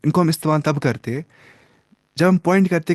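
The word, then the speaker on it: هذا: Hada and ज़ालिका are pronounced as हाजा एंड ज़ालिका respectively, ना हादा ज़ालिका, बट are written without the अलिफ।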